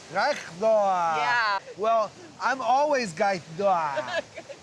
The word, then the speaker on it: kaigtua: Gaishda. Gaithdoa.